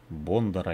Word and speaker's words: Бондар: Череду непонятных боев продолжает Оды Осборн против Дениса Бондаря или Бондаря. Украинские коллеги меня поправят, как правильно все-таки его фамилию произносить. Ну, на русский лад Бондарь. На украинский, может быть, Бондар.